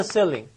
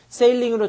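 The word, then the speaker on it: ceiling: hit the silling 지격하니까 어때요? 발음 잘하시고 선생님도 예전에 세일링으로 잘못 입고 했었는데 천장 세링이야 천장 어우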